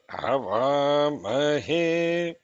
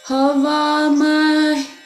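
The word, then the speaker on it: havāmahe: Yes, because Shekar, you chant he in flat, but in the list we see that he is down. Okay. What is correct? Havamahe. Havamahe. Okay, one second. Havamahe kavim. Yeah, you're right. That's maybe I'm not saying like totally anudatam. It should be all anudatas.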